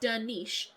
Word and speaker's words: Dernisk: Dernisk, pronounced Dernish, since the final sk cluster sounds like a sh sound.